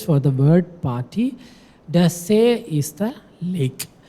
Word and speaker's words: See: The See is the lake. So make sure the pronunciation is not like in the English See, say in German. Okay, See.